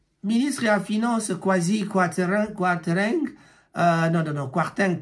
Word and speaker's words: Kwarteng: ya finance Kwasi Kwarteng Kwarteng plutôt comme ça Kwarteng là pour prononcer comme on m'a monté Kwarteng a présenté qui